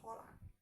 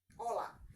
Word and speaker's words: hola: Then when I'm talking of words like please, por favor, please, por favor, hello, hello is hola, hola. So H is silent.